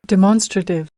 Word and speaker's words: demonstrative: समझ ही नहीं आती, क्योंकि आपके दिमाग में डेमोन्स्ट्रेटिव बैठा होता है, डेमोन्स्ट्रेटिव। ये है डिमॉन्स्ट्रेटिव, 4 सिलेबल्स हैं, सेकंड के ऊपर स्ट्रेस है। demonstrative, demonstrative, demonstrative, उसके बाद